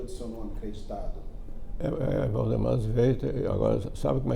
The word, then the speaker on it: Zveiter: Valdemar Sveiter. Agora, sabe como é que se escreve Sveiter, né?